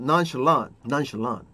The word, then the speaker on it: nonchalant: nonchalant 좋습니다. 끝에 t가 잘 안 살지. 미국 말에서는 t 발음이 잘 안 살아요. 그래가지고 여기서 nonchalant 여기까지밖에 소리가 안 난다고.